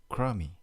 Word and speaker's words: crumby: foot all the bills krummy because crumby the bee is silent adjective informer dirty unpleasant or of poor quality or unwell origin with nineteenth-century variant of crummy mr.